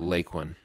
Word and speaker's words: Lakeland: and hearing them talk you most often hear the pronunciation of Lake one you don't hear it any other way and if you do I started to notice a pattern where the people who were there in the beginning of the town were the ones who were pronouncing it correctly pronouncing it as lake one the people that were